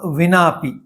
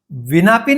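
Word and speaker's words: विनाऽपि: उस चिन्ह का अर्थ यह है कि उच्चारण कुछ दीर्घ करना है। विनापी नहीं करना है। विनापि इस प्रकार थोड़ा दीर्घ उच्चारण करना है।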